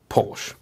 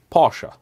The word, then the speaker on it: Porsche: you how to pronounce porch the correct pronunciation is pora it is a German name it is a German family name this is the reason